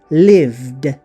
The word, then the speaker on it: lived: ออก เสียง Ed เป็น เสียง เดอะ ใช่ ม lived lived แน่ นอน เวลา ออก เสียง จริง ไม่